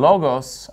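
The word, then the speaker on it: λόγος: arji and our and notice in logos i'm putting the stress on the first syllable because that's where the accent mark is and are he in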